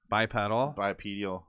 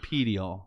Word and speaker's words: bipedal: You can say it either way, but it's not pedial like Pedialyte. Bipedal. Yeah, literally, that's how you say it. Bipedal. Bipedal or bipedal. Yep. Either way, depends if you speak the Queen's English or the King's English.